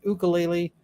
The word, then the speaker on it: ukulele: see um Runkle uh ukulele is a Hawaiian word pronounced ukulele when you say uke